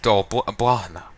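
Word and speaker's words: Dol Blathanna: Remember I was saying before Dolblathana? That's how they say it. It's spelled the same way, and that's how it's said here, like where I am.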